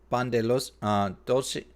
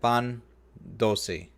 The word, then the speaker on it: pan dulce: Oh, that she brought all that cannolis, tiramisu, pan de los dulce. Okay, I just mispronounced that. Pan dulce and choco flan.